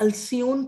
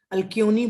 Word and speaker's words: Alcyone: उनके जन्मों में उनको अल्सियोन का नाम दिया गया। इसकी स्पेलिंग कई अल्कियोनी बोलते हैं, कई लोग अल्सियोन बोलते हैं। मैं इसकी स्पेलिंग बता दे रही हूँ, ALCYONE, अल्सियोन या अल्क्योनी। बाद में थियोसॉफिकल सोसाइटी ने